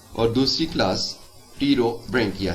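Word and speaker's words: Pterobranchia: हैं और दूसरी क्लास टी रो बंकिया है यहां पर पी साइलेंट है और इसके मेंबर्स को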